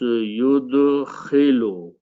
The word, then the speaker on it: yudkhilu: So here we don't use this alif, so we replace this by a ya and pronounce yudkhilu.